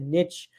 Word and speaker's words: niche: Now, take note that if you have a very specific niche, or as some of my American friends pronounce it, niche skill sets or expertise, these salary guides might not be specific to that degree.